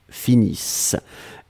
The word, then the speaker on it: finissent: Nous finissons, vous finissez, ils, elles finissent. ISSENT, mais on ne les prononce pas, donc le ENT comme d'habitude.